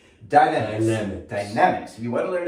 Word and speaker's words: Dynamix: So if you want to learn more about I always say it wrong. I think like Jimmy I watched Good Times growing up, so I'm like, Dynamite! Dynamics.